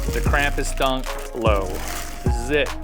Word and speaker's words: Krampus: The Krampus Dunlow apparently pronounced Krampus, not Krampus. Krampus.